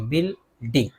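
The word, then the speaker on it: building: यहाँ भी देखिए यू के बाद आई है तो आई को तो पढ़ेंगे, यू को नहीं पढ़ेंगे, बिल्डिंग।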